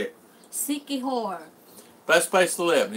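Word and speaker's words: Siquijor: Sikihor.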